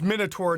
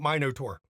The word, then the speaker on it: Minotaur: And it's Minotaur, not Minotaur.